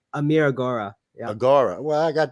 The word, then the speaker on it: Agoora: because I always like to know names Amir agar yeah agar well I got that one right then okay Amir agar I just got the first one wrong Amir